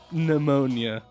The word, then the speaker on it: pneumonia: P Pia Pon pneumonia I know there's a PE in front of it but that's isn't it like pterodactyl it's like pychology you don't pronounce the